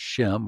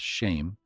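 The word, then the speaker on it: שם: It's pronounced Shem or perhaps Shame, and it's a primitive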